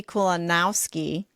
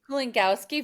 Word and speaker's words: Kulongowski: Um, I am joined by Kulanowski. Did I pronounce it right? Kolinkowski.